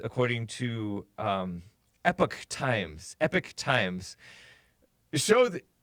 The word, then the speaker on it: Epoch: America this epic times e P och times but that if you see the pronunciation things yeah epic is how the American pronunciation is epic eh P uhk epic